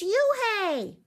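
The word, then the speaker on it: Unhei: spelled un hei it's pronounced Eun Hye oh it's you Hey the boy said like you hey what about hey you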